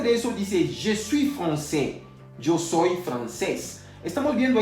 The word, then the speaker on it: français: Ya habíamos visto hace unos minutos atrás que la AI se pronuncia E. Entonces no diremos francais, vamos a decir français. A saber lo siguiente también, que la S final no se puede pronunciar.